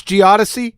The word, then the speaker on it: geodesy: geodesy does he geodesy i don't know how to pronounce it's geodesy most people even even the geothesis can't pronounce it right uh geodesis it's geodesy